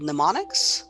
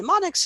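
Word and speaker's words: mnemonic: for that is called pneumonic where m is not pronounced you start up with an N uh and neonic is just a a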